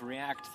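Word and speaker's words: Reakat: the official announcement of react Thursdays with a trademark proof K it's kind of like Mortal Kombat it's spelled r e a k a t exactly get react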